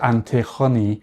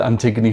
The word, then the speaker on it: Antigoni: I think she pronounced it antihoney in Greek perhaps, but I just watched an episode of Love Island. I'll explain why. And in that episode, she said Antiggony herself.